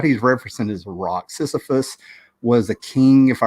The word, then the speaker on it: Sisyphus: He goes, that is like Sisyphus, Sisyphus, Sisyphus.